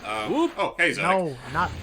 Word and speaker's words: Zodic: Okay, yeah, it was Zodic. I accidentally mispronounced it as Zordic.